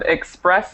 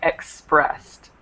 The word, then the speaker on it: expressed: in Ed um so all of these words should be pronounced not with the extra syllable so this instead of expressed it should be expressed expressed expressed okay okay